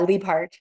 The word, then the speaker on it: Liebhart: Is it Liebhart? Yeah, Liebhart. Liebhart. Okay, I added extra syllable in there.